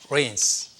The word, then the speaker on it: reign: 여호와께서 통치하시니 The Lord reigns. reign이라는 말이 비 온다라는 말하고 같이 발음이 들리는데 철자가 다릅니다.